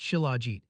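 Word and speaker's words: shilajit: The remarkable superfood we're discussing today is called chiligit, pronounced chilagit, a rare resin-like substance that oozes from cracks in the Himalayan rocks during summer months.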